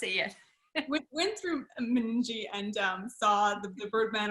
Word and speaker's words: Meningie: actually i'm not sure is it mening people tracy how do you pee it's meningi can't pronounce it yet we went through meningie and um saw the